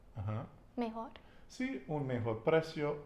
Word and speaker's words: mejor: Precio is the price, P-R-E-C-I-O, and better is mejor, and it's with a J, like Joel is Joel.